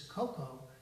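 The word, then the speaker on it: koko: spelled with a different it's pronounced simply very similarly but it's not the same as chocolate cocoa this is coco for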